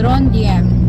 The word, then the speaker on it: Trondheim: What the pronunciation? Trondheim.